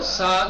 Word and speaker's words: صاد: بنا کے پڑھنا ہے، ایک دوسرے سین میں جو سیٹی نکلتی ہے وہ صاد میں نہیں نکلنی چاہیے، بس ختم، اتنا جان لو کافی ہے، ٹھیک ہے نا؟